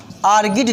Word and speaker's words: Argead: इसका अंग्रेजी लिख लीजिएगा क्योंकि ये आपके लैटिन और यूनानी वर्ड हैं, तो इनके प्रोनाउंसिएशन में आप लगातार परेशान रहेंगे। ARGEAD, आर्गिड dynasty.